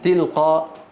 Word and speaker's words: تلقاء: الوقف على الهمزة المرسومة ياء. في بعض الهمزات رسمت على ياء، هل تنطق الياء؟ لا تنطق، لا تنطق. ومن وراء حجاب، من وراء. انظروا كيف كتبت، هكذا كتبت. طيب كيف نلفظها؟ من وراء، من تلقاء نفسي. انظروا كيف كتبت، كيف نقرأها؟ تلقاء. وإيتاء ذي القربى، وإيتاء هكذا كتبت.